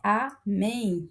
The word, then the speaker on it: amém: Amém também, né, amém. A última sílaba é tônica, recebe o acento porque termina em em.